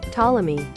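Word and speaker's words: Ptolemy: So, it is just like the the P is silent. Okay. Tommy.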